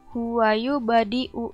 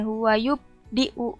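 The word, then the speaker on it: هُوَ يُبْدِئُ: Kayak tadi yang contoh yang sugro, huwayu badiu. Jadi dibacanya bukan huwayu diu. Itu kan gak ada pantulannya ya. Jadi dibacanya harus ada pantulannya. Huwayu badiu gitu ya.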